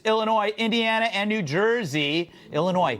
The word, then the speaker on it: Illinois: Indiana and New Jersey Illinois silent s I found out meanwhile